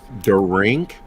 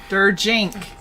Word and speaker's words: Jink: Jink. Jink. I tried this last time. Jink, like a jinx. There you go. Jink. Jink. Like if the I in drink was a J.